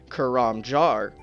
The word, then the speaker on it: Karamja: all these years we may have been pronouncing karamja wrong according to the post bag from the Hedge from October 30th 2008 karamja is actually pronounced kuram jar I'll put the spelling here on screen so